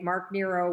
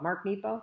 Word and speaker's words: Mark Nepo: Mark Nero was fighting cancer when he wrote this. And it's beautiful. So Nepo. Mark Nepo.